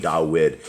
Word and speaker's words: Dawid: that people understand that when we're saying dawid is the the actual the right pronunciation of the the the king of Israel is not David it's DED okay and